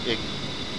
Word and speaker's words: EGI: The primary navigation system of the A-10C is the embedded GPS, INS, or EGI, often pronounced IGI.